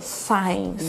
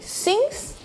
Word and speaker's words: since: E muito cuidado, porque é muito comum ouvir a pronúncia errada do since. Eu escuto muito signs. Yeah, be careful. Okay, be careful with that, because it doesn't make sense, okay? Since and for.